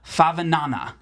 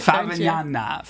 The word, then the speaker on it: Favignana: on the island of Favignana. I think that's how you pronounce it. To say it, Favignana.